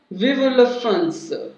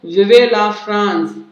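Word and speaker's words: Vive la France: और वो क्या लिखता है, विव ला फ्रांस, लिखा हुआ क्या दिख रहा है आपको, विवे ला फ्रांस, लेकिन इसका जो राइट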